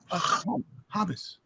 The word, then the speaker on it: hummus: I knew to pronounce it hummus. Hummus. You got to get a little phlegm in your throat when you pronounce it.